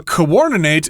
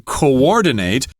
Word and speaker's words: coordinate: Notice there are 2 O's there, but they are separate syllables, coordinate, not coordinate. No, don't say that, coordinate. But a lot of people do coordinate. They'll say just coordinate. Right, yeah, they'll say it faster that way. Coordinate is the proper pronunciation, but yes, it sort